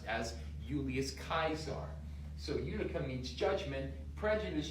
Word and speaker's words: Julius Caesar: from the Latin udum actually there were no J's in Latin there were only I's so that's why it